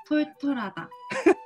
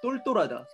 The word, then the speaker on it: 똘똘하다: 톨톨하다. 이게 발음이 어렵구나. 사키코 정도 돼도. 또 계속 똘똘 하던 거야. 똘. 부끄러워하지 말고 한번 해봐봐. 똘똘하다. 똘똘하다. 오, 잘하네. 그게 맞는 거야. 똘똘하다. 털털하다랑 똘똘하다는 발음이 좀 다르지.